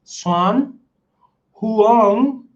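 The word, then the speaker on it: Xuân Hương: I know I'm not saying it the Vietnamese way, so don't shoot me if you're Vietnamese are here. Okay. I'm gonna say it the American way, just so my audience knows exactly how it's said. So we say Swan, like S, Swan Huang Lake.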